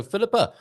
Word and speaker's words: Filipa: So Filipa, I should say, I'm saying it with the English pronunciation there. Filipa, Hello. I heard Hivana saying more accurately.